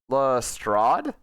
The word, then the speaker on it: Lestrade: this lestrade you will answer the question wait pronounced lestrade okay god i hate the